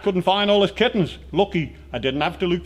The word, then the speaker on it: Lughee: It's about my daughter, and the lucky is spelled L-U-G-H-E-E, and it's the Manx word for mice, so it's mice are unlucky.